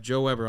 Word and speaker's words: Joe Weber: seven years now i have everybody i have joe weber on thanks for coming on bud thanks for